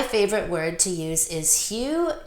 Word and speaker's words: Hu: My favorite word to use is Hu, H-U. It's pronounced Hu.